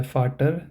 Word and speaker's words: Vater: So here we pronounce it as der Doktor, die Mutter, der Vater, der Bruder. So it may sound like we ignore the R part completely.